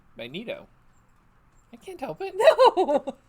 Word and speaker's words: Magneto: How do you say magnet? Just like you did. Okay, you say it. Magnet. Now put an O on the end. Magneto.